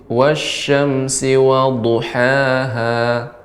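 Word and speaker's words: وضحاها: Wasyamsi waduhaha. Ya, huruf dhad ya. Dia lebih berat pengucapannya. Dha. Wasyamsi waduhaha.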